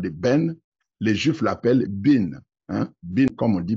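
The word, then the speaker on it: בן: droite bin Yamin donc le mot fils en hébreu c'est bin mais ça s'écrit ben ça s'écrit Ben et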